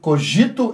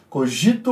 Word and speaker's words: cogito: descartes teria que reavaliar recessão o coj cor cogito ergo sum não sou muito boa na tim mas acredito que seja assim a pronúncia cogito o código cogito ergo sum pois as pessoas